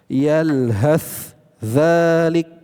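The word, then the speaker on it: يلهث ذلك: Yalhat dzalik. Nah, kalau secara terpisah seperti itu bacanya. Maka dalam riwayat Imam Hafz langsung diidghamkan, dimasukkan ke huruf dza. yalhad yalhadzalik. Nah, langsung masuk ke huruf dzal.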